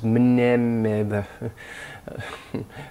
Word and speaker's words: mneme: But the Greek equivalent was this mneme. And it's hard to say for English speakers, but they pronounce the mne in Greek.